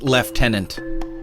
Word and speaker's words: lieutenant: And I would say second left tenant Julian. Oh, the British pronunciation.